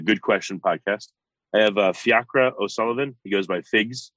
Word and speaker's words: Fiachra: Yeah, I guess Fiachra is an Irish name, right? Is it pronounced that way? Exactly. Fiachra. But I like, you know... Yeah, it's weird where the emphasis is on, right?